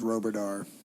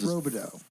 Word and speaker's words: Roberto: Why does everybody say his name is Roberdar? Roberto? It's Roberto. Yeah, his first name was Robert.